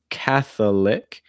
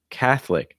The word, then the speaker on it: Catholic: next one catholic catholic so it's not catholic it's just catholic that o will be removed in terms of pronunciation keep it two syllables catholic catholic after that